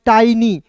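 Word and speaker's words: tiny: देखिए टी आई का उच्चारण यहां पे टाई के रूप में कर लेंगे और एन का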